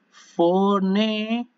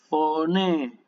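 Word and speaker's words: φωνή: Si ustedes quieren distinguir la cantidad de las vocales sería foné, foné.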